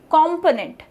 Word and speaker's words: component: COMPONENT, component, component. So PO is the primary syllable here.